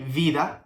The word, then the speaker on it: vida: They are pronounced in the same way, with the B sound. So for example, the one that we have here is vida, vida. We don't say vida, we say vida, okay?